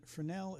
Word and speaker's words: Fresnel: So, if you um and it's the S is silent. Um, and I know it may sound sound like I'm pronouncing Fresnel, which is a different person altogether, but it's Frenel is how you pronounce that.